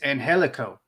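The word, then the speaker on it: Angélico: Phoenix got it it's it's this it's Angelico it's what Angelico you know you pronounce the G as an H for some reason and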